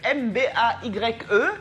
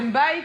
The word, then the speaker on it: Mbaye: qui n'étaient pas à Bassa n'arrivaient pas à prononcer Mbaye. Tout le monde s'arrêtait sur Surtout que Libarou. ça ressemble à Mbaye, M-B-A-Y-E, qui est chez les Sénégalais.